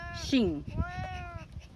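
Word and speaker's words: Shiing: And we spell that S-H-I-I-N-G. It's like a sound effect when you pull a sword out of the sheath. Shing.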